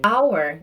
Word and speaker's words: hour: Hour, da mesma forma. An hour. Então eu faço uma junção com an para o O. E fica an hour.